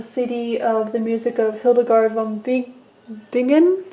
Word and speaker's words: Hildegard von Bingen: I'm listening to Canticles of Ecstasy, a CD of the music of Hildegard von Bingen, I believe is how it's pronounced.